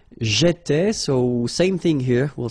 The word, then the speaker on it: étais: J'étais, so final S not pronounced.